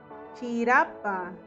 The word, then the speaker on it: chirapa: El arco iris es chirapa. Chirapa, como jirafa.